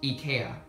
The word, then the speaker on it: IKEA: ceiling for less than $50 at our local Ikea supposed to be pronounced Ika and it was an amazing deal as you